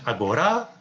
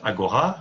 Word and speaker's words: Agora: We have Lina choosing Agora. Okay, I tell it with a Greek pronunciation, but Agora, you can say.